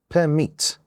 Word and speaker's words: permit: Now look at the next example, permit. We have two syllables and the second one is stressed.